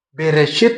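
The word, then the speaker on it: בראשית: Ini huruf Alef tapi tidak ada bunyi A, gitu. Vokalnya tidak ada A, padahal ini Bereshit tapi ada Alef di tengah.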